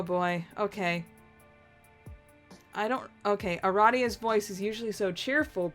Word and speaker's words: Aradia: out loud because she immediately corrects you it's pronounced Aradia uh-huh yeah Aradia take that people who pronounce